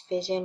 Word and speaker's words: fission: is the opposite and a way to remember that is fission rhymes with division fission is taking a